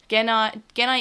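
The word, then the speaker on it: Gennai: And now we call Genai, which I know, yes, Genai is the proper way of saying it in the original.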